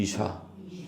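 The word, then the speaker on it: אִשָּׁה: 발음도 어떻습니까? 발음도 어때요? 비슷하죠? 이시이 다시 한번 따라 보세요. 이쉬 이시 이 이샤 거꾸로 하시면 안 됩니다.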